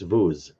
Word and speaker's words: vous: But if I say "Parlez-vous français," you don't pronounce that S on the end of the word vous. It's the word vous, not the word vous.